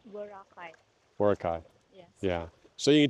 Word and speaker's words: Boracay: Am I pronouncing that right? Boracay? Boracay.